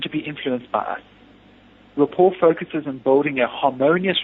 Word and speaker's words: rapport: The word rapport is of French origin, and the final T in the word is not pronounced.